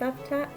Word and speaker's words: Cavtat: spelt the a bt 18 cuffed up it's pronounced laughed at and the bay in which it was located